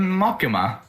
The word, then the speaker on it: Makima: The I is like the I sounds like E. Makim. Makima. Yeah. Makim. Makima.